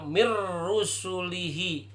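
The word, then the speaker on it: مِن رُسُلِهِ: Ada contoh bacanya halaman 56 sebelum diidghamkan, maka bacanya min rusulihi. Setelah diidghamkan, maka dibacanya mir rusulihi.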